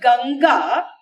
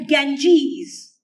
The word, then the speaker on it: Ganga: mistakes but then those fellows who cannot even pronounce the word ganga properly and they they call it the Ganges and the Himalayas they don't have a problem